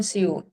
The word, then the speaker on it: Seoul: पहले तो उस word का pronunciation है soul. Seoul. Soul, not soul. Soul.